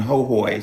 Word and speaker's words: Hohoe: And they were inviting us to parties, and we would go to this fucking mansion out in Hohoe, spelled ho ho, if you want to look it up. Pronounced Hohoe.